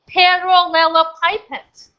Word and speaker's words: parallelepiped: amazing that the sound volume so this word pronounced has parallelepipeds the volume off I will show you what